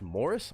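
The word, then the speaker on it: Maurice: is the oldest Rob morrice pronounced Mor oh Morris that's pronounced Morris I would have never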